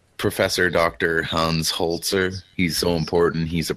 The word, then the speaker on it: Holzer: Holz excuse me i mispronounced its professor dr. Holz er yes he was uh